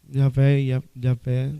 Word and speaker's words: Javé: Yavé. É a forma de você dizer só, né, na pronúncia. Para portuguesar, a gente fala Javé, ou Yavé, é a pronúncia.